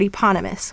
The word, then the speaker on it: eponymous: write the word eponymous we have e-pawn yeah mas and you'll notice an eponymous the e is saying it's long sound and then we have the suffix us as well now we have the e saying the long sound in eponymous where the